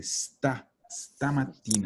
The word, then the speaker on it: stamattina: Si sono sentiti stamattina, no stamattina. La palabra empieza con S, stamattina.